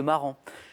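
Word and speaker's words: Marans: S mais qu'on ne prononce pas, la poule de marran.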